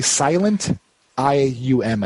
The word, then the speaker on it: Silentium: How would you spell it or say that word? Sure. Yes. It's basically silent IUM at the end. Silent EM. I say Silentium. It sounds more bougie.